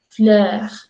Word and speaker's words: fleur: Es como decir lo mismo, la E y la O, pero con la mandíbula un poco más abajo y la lengua un poco más hacia adelante. Entonces diríamos fleur, fleur, Götze, Götze.